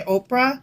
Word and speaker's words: Oprah: But people mispronounced it so often that she just continued to go by Oprah.